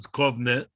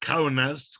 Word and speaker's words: Kaunas: So the main place was Kovna, which they pronounced Kaunas, Kaunas.